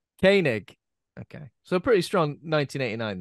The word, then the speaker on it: Koenig: then for Walter how do you say certainly Koenig Koenig okay so pretty strong 1989 then all in